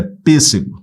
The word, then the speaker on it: pêssego: o som é fechado não é PSG é pêssego som fechado o acento circunflexo indica som fechado lâmpada ó separa sílabas